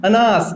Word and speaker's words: अनास: ये ईरू नदी ऐसे ही नाम है इसका, ये यहां से निकलेगी अनास नदी, अनास, बनास नहीं, अनास, ये साइलेंट है।